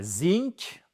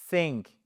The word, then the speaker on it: think: C'est pas zinc ? Non, c'est pas non, je sais que c'est facile mais c'est pas think. C'est pas un feu, ça ne marche pas. C'est think think Oui, je sais, j'ai l'air bête mais on s'en fiche. Think exactly the, c'est pas feu, mais c'est think.